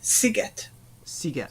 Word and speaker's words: sziget: name Margaret marget and island is siget sigat Sig so it's maret